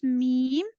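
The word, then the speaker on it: م: And meme will pronounce like when your dry part of your two lips will connect, like it will pronounce meme.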